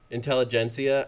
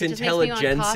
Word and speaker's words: Intelligentsia: and The Wrecking Crew Intelligentsia I look I go for coffee I'm still I know it's pronounced like the coffee place I was saying before I was like intelligence every time okay yes